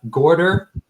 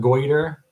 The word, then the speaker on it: Gorder: We've got Naria Gorder, not Goiter, as I would like. I've been pronouncing it Goiter forever, and then she just corrected me last night.